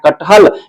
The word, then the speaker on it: कटहल: चारों व्यंजनों के व मिलके बना है कटहल। ये हमें देखिए जैसे उच्चारण करते हैं। कट हल कट हल। ये हमारा जो ट है ना पूरा उच्चारण नहीं हो रहा है।